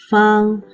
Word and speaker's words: 芳: Fang is the upper part, 草, and the lower part, 芳. Fang and fang are the same pronunciation.